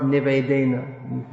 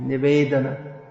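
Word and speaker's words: निवेदन: The common mispronunciation is E Nivedena Dharo. It's not Nivedena, Nivedana, E Nivedana Dharo.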